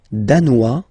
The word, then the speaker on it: danois: Le Danemark, danois, danoise. Zzz, okay, insist on that. Danois, don't pronounce the final S. Danoise, here you pronounce it.